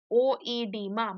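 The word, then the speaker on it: oedema: Now, edema in some older textbooks, you may even find it with a O, edema, but that O is silent.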